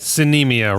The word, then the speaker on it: Sinemia: Sinemia rhymes with bulimia.